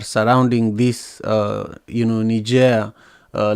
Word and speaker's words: Niger: know in in in Nigeria I think the right way to say it is Niger but I usually I usually call it Niger but the president was